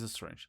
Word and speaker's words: strange: provienen del inglés que terminan con E, la E es muda. Entonces aquí es nice, aquí es strange.